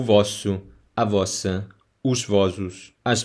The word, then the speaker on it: vos: Pay attention to the pronunciation of vós as a subject pronoun and the direct object pronoun vos.